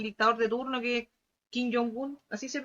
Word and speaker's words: Kim Jong-un: este caso, del dictador de turno, que es Kim Jong-un. Así se pronuncia, ¿cierto?